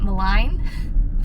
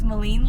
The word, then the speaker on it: Maligne: So probably my highlights for Jasper was Maligne Lake, which I just found out we've been pronouncing it wrong the whole time, so I was calling it Maligne, but it's Maligne Lake.